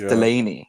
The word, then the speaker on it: Delany: the name thing like people get my last name wrong and it's phonetic do you what I mean like it's Delany it's not hard to say people get what do